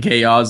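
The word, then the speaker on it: Gyazo: the best thing ever you just called it Gayo I'm pretty sure that's enough that's because that's how your you're supposed to pronounce it I hate it because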